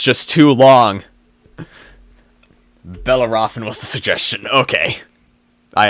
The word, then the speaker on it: Bellerophon: Pronounced Bellerophon.